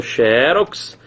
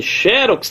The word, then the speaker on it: xerox: Xerox, que pode ser paroxítona, final X de rouxinol, portanto, acentuada. Agora, cuidado, porque xerox também admite essa pronúncia aqui, ó, xerox. As duas pronúncias são aceitas, ó.